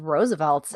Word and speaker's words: RSVLTS: So next on the list is Roosevelt's, and it's spelled RSVLTS for our newer listeners.